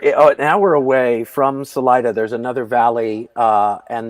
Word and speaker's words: Salida: right because i said salad ah yeah so it's spanish for exit salida but um salida is how the locals pronounce it salida it's if you took